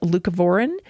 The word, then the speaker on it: leucovorin: I think it's pronounced leucovorin.